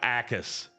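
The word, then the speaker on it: Jacas: Gabe Ais, edge rusher Illinois.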